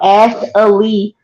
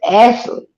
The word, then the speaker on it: Ashley: my name wrong like I keep getting called ass Elite and I'm like it's Ashley it's like there's no extra syllable in my name let me put my